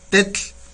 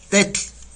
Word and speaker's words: tetl: Un ejemplo, piedra, escribimos tetl, ahí está, tetl, así se escribe, piedra, tetl, ¿sale?